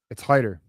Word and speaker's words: Hyder: It's Hitter, bro. It's Hitter. It's like it's Hitter. It's Hitter because it's spelled Hyder, but yeah.